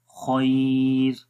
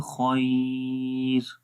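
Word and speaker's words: الخير: बारीक पढ़ेंगे, तो जब रुकेंगे तो बारीक होगी खैर, बियदिहिल खैर। और अगर मिलाकर पढ़ेंगे तो फिर रॉ मोटा होगा, बियदिहिल खैरु व हुवा खैरु, बियदिहिल खैरु।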